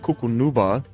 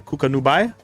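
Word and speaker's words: Cucunubá: Uh accent on the last syllable. Got you. Nubia. So Cucku Nuba. It's not cuckooa. You said that was wrong. Uh new uh nubai. Cuka nubai.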